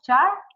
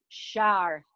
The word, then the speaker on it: Schaar: Y esta noche tenemos aquí a una mujer encantadora, Gaby Shar, dime cómo se pronuncia bien tu apellido, Shar. Así como si fuera Shar.